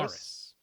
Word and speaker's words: Aris: Aris. He said that Aris. was correct. He at least I think he said the third pronunciation was right. I'm pretty sure that was Aris.